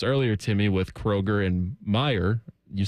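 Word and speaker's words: Meijer: Like when people say Kroger or Kroger's or Myers. That's kind of just an Ohio thing. Just but it's not what it's called. No, it's not. Meyer.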